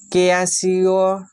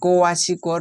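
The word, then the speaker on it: kwashiorkor: Next প্রশ্ন হচ্ছে, কোয়াশিওর, এখানে সঠিক উচ্চারণ হয়ে যাবে কোয়াশিকর রোগের ক্ষেত্রে কোন প্রকার খাদ্যের পরিমাণ বাড়াতে হবে?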